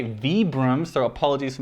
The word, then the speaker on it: Vibram: Apparently I'm supposed to say Vibram, so apologies for mispronouncing that because my instinct is to say Vibram.